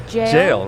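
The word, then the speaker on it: gaol: whatever yeah I think it's just pronounced g-a-o-l I think it's just jail right now because it's you know like you you know this for sure it's pronounced jail yeah because it's like it's g-a-o-l-e-r it's jailer right wow what are you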